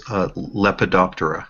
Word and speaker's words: Lepidoptera: Is that how you pronounce the moths? If it's moths and butterflies, it's Lepidoptera.